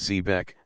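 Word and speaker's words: xebec: Sea after a shipwreck zebec pronounced zebec a small three mased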